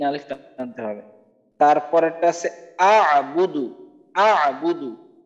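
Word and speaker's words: أعبد: অনেকে এখানে লা আবুদু মানে আইনের উচ্চারণ অনেকে করেই না, লা আবুদু মা তাবুদুন, দুই জায়গাতেই আইনকে বাদ দিয়ে পড়ে, তো আমাদের আইনের উচ্চারণটাকে অবশ্যই করতে হবে।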